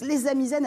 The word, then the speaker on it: Les Amis Zen: Comme ça se prononce, les Amis Zen avec deux Z même, s'il vous plaît.